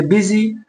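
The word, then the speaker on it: busy: तो इसे बच्चे पढ़ेंगे बिजी, बी यू एस वाई, बिजी।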